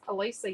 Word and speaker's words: Alicia: court q um so and my name is alisa yes and it's spelled a l i c i a and